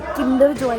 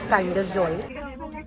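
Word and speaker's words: Kinder Joy: बाय द वे अगर किसी को लगता है किंडर जॉय है, नो, it's known as, it's pronounced as काइंडर जॉय।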